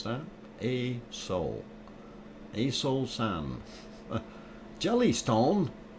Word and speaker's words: Aso: okay i'm gonna put you on uh um a soul aso is how it is spelled don't mispronounce that a soul a soul sand jelly stone you want to